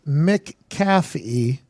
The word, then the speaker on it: McAfee: the WWE thing and he put in parentheses pronounced Mick caffee our boy app at McAfee show Dallas Braden